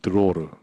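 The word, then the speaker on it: דְּרוֹר: 너희 땅에 사는 모든 백성에게 자유이이이 뭐 이게 로라고 읽는데요 여기 보면 드로르 드로르 여기 핵심이죠 즉 신년의 가장 큰 핵심적인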